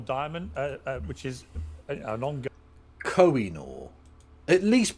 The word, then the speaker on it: Koh-i-Noor: Koh-i-Noor. At least pronounce it properly.